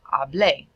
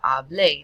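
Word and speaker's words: hablé: that would turn into aa bleh notice the pronunciation ah bleh that accent tells us to stress the end of the word another one meet our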